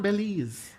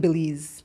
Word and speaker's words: Belize: Y'all always say Belize and it irks me every single Really? time. Can we go Belize? I understand because it's spelled B-E. Okay, and so do you it think again it's for Be? me. Say I believe. I believe. I believe in Belize.